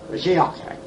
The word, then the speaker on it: Mashiach: Mashiach. What do you say? Now, how do you say it? Mashiach. Mashiach. He wants me to get that guttural sound in there.